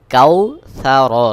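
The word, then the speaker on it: الْكَوْثَر: সা র জবর র কাউ সা র রয়েছে এই রয় আমি ওয়াকফ করবো অর্থাৎ এখানে আয়াত শেষ অর্থাৎ র এর উপরে জবর রয়েছে জবর সাকিন হয়ে যাবে সহি উচ্চারণ হবে ইন্নাকাল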